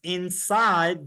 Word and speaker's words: inside: girl the girl is inside the Box inside the letter e is silent we don't say inside day so there are words